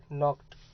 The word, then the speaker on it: knocked: यहाँ आप देख सकते हो नॉक्ड, तो हमें लिखना है के से, ये स्पेलिंग पूरा लिखना है, KNOCKED, नॉक्ड। लेकिन बोलना है एन से शुरू करना है।